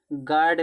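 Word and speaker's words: guard: गार्ड में you silent और गार्ड माने चौकीदार।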